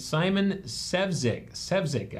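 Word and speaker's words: Simon Sefzik: He passed away, and Simon Sevzik, I believe is how it's said, is pronounced, was appointed to the seat.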